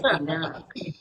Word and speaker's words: Quindaro: I can never get the pronunciation correct. We say Quindaro.